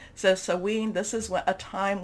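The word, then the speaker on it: Samhain: month we are also in what's called sewen there's different pronunciations i think i'm doing the scottish pronunciation of this but we can you know you know there's different celtic celtic type of pronunciations so sewing this is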